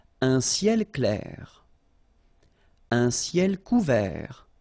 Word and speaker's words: couvert: Un ciel couvert. Final T not pronounced.